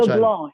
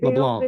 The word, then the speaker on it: LeBlanc: LeBlanc. They LeBlanc. don't pronounce the C.